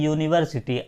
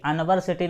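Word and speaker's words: university: समझिए mister Raghav is uni were city lecturer तो इसमें आपको क्या देखना है पहले इसका उच्चारण देखना है इसको क्या बोलते हैं यूनिवर्सिटी अनवरसिटी नहीं कहते हैं यूनिवर्सिटी तो इसको लिखेंगे कैसे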